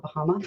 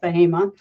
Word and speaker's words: Bahama: Often people call it Bahama, but it's pronounced Bahama.